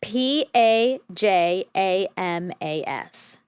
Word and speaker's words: pajamas: P A J A M A S. Pajamas with the vowel in jam. With the vowel in palm jam.